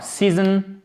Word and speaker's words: season: Alors season, comme ceci, chers amis, avec un magnifique i long ici, vous l'aurez compris, qui est aussi la place de l'accent tonique.